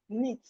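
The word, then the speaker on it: knit: We have Neat. The K is also silent.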